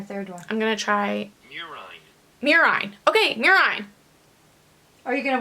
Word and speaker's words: murine: Marine model. Is that a rat? I think that's mice. Mice or related rodents. Okay. So in a marine model, is that how I pronounce it? Murine.